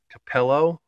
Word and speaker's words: Capello: that is my good will pick up and Capello believe it that's how you pronounce it that's the brand name so that